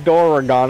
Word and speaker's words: Doragon: I pronounce it like Doragon on our first collab.